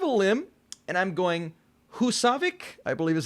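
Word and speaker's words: Húsavík: a bit of a limb and i'm going hussavik i believe is how you pronounce it from eurovision song contest we've seen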